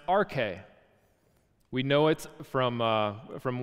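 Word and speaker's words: ἀρχή: chapter 1 the Greek word for beginning is pronounced RK we know it from from words like arch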